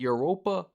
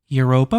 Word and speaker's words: Europa: Europa Park Europa. I wanted to make sure I was saying it right. You know, I was like, it sound like Europe. Europa.